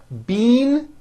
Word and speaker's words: bean: The word bean, spelled B-E-A-N, which you eat, is pronounced with a high E sound.